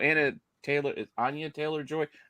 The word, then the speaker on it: Anya Taylor-Joy: So Anya Taylor-Joy.